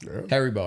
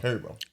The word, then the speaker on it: Haribo: Harrybo. Harrybo. Harrybo. Haribo.